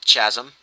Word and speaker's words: chasm: I mean, chasm. That's how it's correctly pronounced.